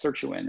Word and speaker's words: sirtuin: Is that what how's it pronounced? Sirtuin? Yes, sirtuin.